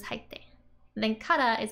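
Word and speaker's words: 入って: So, hairu becomes haitte. And then like how you pronounce this tsu, which is like stop, haitte, versus haitte.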